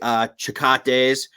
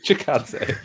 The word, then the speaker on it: Chikadze: It's headlined by, I can never say his name correctly, Chikates versus Barboza. Chikadze. Chikadze. Wait, how did you butcher that? It's so phonetically there.